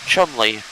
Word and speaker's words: Cholmondeley: Chumley. That's CHOLMONDELEY is how you say Chumley. Is how you pronounce spell Chumley.